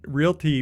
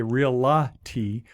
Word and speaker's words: Realty: right you didn't say real la ti or real la tour which which people get wrong it's uh there's only two syllables in those words it's real like as in real estate and tea or real tour so